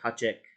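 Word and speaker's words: háček: about it sometimes they call her the hatchet which is a czech word so you could also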